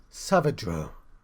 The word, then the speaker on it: Saavedro: I've not been pronouncing the D. Saavedro.